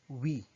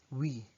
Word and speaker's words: oui: You say oui, oui. In Filipino, you can pronounce it by imagining the letters W, E, and E.